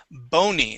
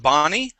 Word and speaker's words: bony: return great okay uh this next word here is bony instead of Bonnie bony bony that means